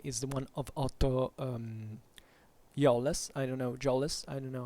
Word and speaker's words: Jolles: However, if you really find it, Otto Jolles is spelled Jowles. So Otto Jolles.